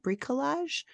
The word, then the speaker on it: bricolage: Can I use another one of my abilities called I think is it bricolage? Yeah, that's correct. It's how it's pronounced.